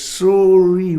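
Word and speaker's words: Soiree: So it's pronounced Surrey by the old people.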